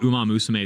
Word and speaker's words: Uma Musume: And Hasan's pronunciation of Uma Musume is crazy. What did he say? He said like Umamasumi, I think he said something like that.